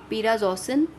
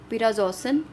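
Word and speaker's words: prazosin: इसको हमने प्रोनाउंस ऐसे करना है पिराजोसिन, पिराजोसिन।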